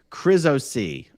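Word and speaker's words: ChrisOC: Oh, just for the record, it's pronounced Chris-O-C. Oh, there you go. Chris-O-C comes from my name Chris.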